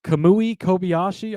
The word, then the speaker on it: Kamui Kobayashi: podcast book we'll give them um okay uh kamui Kobayashi I believe is how you say his name